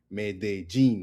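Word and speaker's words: Medellín: Medellin, like we learned, okay?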